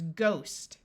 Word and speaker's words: ghost: Here we have a long O, so this word is ghost.